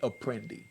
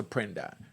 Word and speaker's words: Apprendi: But us blacks call it Apprendi, you know? Y'all remember the Apprendi case, but it's pronounced Apprendi.